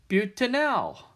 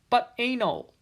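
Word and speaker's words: butanal: a four carbon aldehyde this one is butanol not but anal just to let you know just in case be pretty embarrassing to say it wrong anyway so that's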